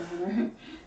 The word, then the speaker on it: Hunter x Hunter: Because like more recently, You don't pronounce the X in the middle of it. It's just I've- Hunter x Hunter.